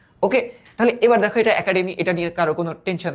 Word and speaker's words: একাডেমি: এটার উচ্চারিত রূপটা হবে একা, একা, তারপর হবে ডে, তারপর হবে মি, একাডেমি। এটা কেন এর উচ্চারণ এর মতো হলো?